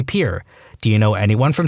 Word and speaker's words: Pierre: South Dakota Pier wrong she kept saying Pierre two syllables like the French name and he said was Pier one syllable like what you fish off of he was